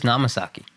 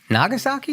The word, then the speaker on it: Nagasaki: Where's Namasaki? Nagasaki. Nagasaki. That would have been way better if I got the name wrong.